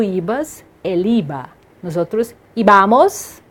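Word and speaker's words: íbamos: Nos outros, ibamos, tem um acento no i, por isso que a pronúncia é assim, ibais e iban.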